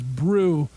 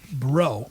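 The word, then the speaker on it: Breaux: I thought their name was Brew, but it's pronounced it's pronounced bro.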